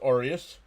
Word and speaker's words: Arias: It's pronounced Arias.